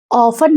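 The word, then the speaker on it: often: ऑफन में टी हमारा silent होता है, इसलिए हम लोग इसको ऑफ्टन नहीं पढ़ते हैं, बल्कि हम लोग इसको ऑफन पढ़ते हैं।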